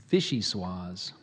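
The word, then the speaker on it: vichyssoise: a GUI Vichy suas which has some alternate pronunciations Vichy suas and fishy suas vicious was I'll let me do those again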